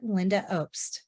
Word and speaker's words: Lynda Obst: This week on the No More Late Fees podcast, Danielle and I are joined by legendary producer and author Lynda Obst.